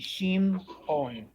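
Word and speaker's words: שמעון: Gideon would rest on the mem. It would be Shim On.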